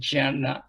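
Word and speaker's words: jñāna: En sanskrit, c'est Jnana, il y a un J devant.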